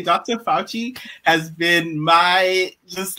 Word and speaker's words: Fauci: How do you say his name? Fauci? It's Fauci.